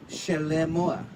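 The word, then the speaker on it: שְׁלֹמֹה: In Hebrew, his name is pronounced Shelemoah.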